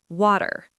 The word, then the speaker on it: water: I was pronouncing all the vowels, but the native speaker was like water, much shorter second syllable.